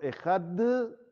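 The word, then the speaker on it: אחד: Meterla entre los dientes para no dejarla que sea de Gushá, que sea una Dalet fuerte.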